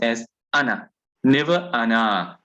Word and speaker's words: أنا: it, it's pronounced as ana. Never ana. That alif is never pronounced. So if you want to say ana tajiru, ana alwaladu, ana talibu, never will this alif ever be pronounced.